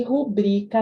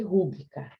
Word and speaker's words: rubrica: E rubrica não pode pôr acento, porque a sílaba tônica é o bri. É uma paroxítona terminada com A. Já foi com acento, já foi rúbrica.